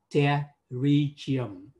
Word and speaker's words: pterygium: từ y khoa đó, chữ P là không bao giờ chúng ta phát âm cả. Mặc dù có chữ P đó, nhưng mà chúng ta sẽ phát âm là pterygium. Pterygium.